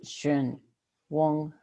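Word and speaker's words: གཞན་དབང: Shenwan. Shenwan. Shen. Sí, di Shun. Wong. NG at the end. Wang. Con NG al final.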